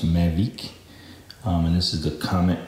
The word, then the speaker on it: Mavic: made in France by of course the company pronounced magic and this is a comment this wheel and